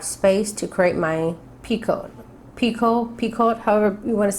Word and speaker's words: picot: space to create my picot, however you want to say it. I think it's a French word. I think it's picot. The T is silent.